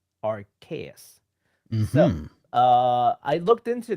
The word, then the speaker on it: Arceus: The Hmm. Japanese name is actually Arceus, which sounds more like Arceus. And the only Mm. reason why they've gone with Arceus instead of Arceus is because Arceus sounds like arse, which our our friends